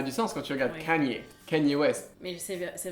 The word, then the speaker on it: Kanye: ça ça a du sens quand tu regardes Canier canenyier West mais c'est c'est vrai que j'ai du mal des fois avec les Français qui disent kenyier et c'est toujours super vite ou Kest désolé